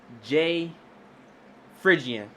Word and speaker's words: J Phry: J. Phrygian.